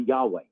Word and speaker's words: Yahweh: we use because if you pronounce it the way it's supposed to be Yahweh if you really want to do it the right way let's do it it's Yahweh um actually I'm not